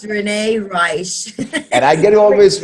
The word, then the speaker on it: Reisch: This is one thing I always have with Renee is I pronounce her name incorrectly, and she always corrects me. Am I right? Yes, it's Renee Reisch.